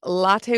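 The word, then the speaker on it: Lotte: to see an art exhibit at uh seoul's latte world mall latte world okay it's spelled l-o-t-t-e oh that's like a that's a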